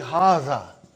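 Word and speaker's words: هذا: is a house okay see it is pronounced like haza but this aleph is not written it is explained in the key also no but you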